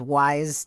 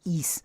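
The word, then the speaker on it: Ys: I think also known as Wise to people who don't. I used to read it Yeah. like that, like until I was probably like 14 and was told that's East.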